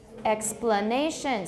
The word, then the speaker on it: explanation: Explanation. So we've got stress on two syllables there, both X and nay, but one of them has tonic stress.